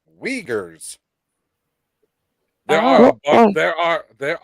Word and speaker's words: Uyghurs: have right now the uyghurs figures it's spelled with like a uy wiegers there are there are